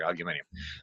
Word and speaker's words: aluminium: I should pronounce correctly here, aluminium.